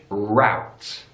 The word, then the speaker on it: route: one there is a big difference in British English roots roots in American English route routes since that ow our sound routes in British English routes in American English so when you're using a sat-nav if you have it in British English they'll say this is the fastest route in American English they'll say this is the fastest route route route and the final